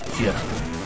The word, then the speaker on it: GIF: GIF. Like peanut butter brand.